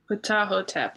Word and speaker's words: Ptahhotep: Ptahhotep.